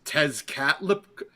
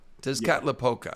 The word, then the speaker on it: Tezcatlipoca: I could not pronounce it. Tezcatlipoca. Tezcatlipoca, I think. Yeah. Tezcatlipoca.